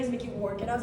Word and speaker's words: Mickey Rourke: I thought this whole time his name was Mickey Rock. Because his name is Mickey Rourke.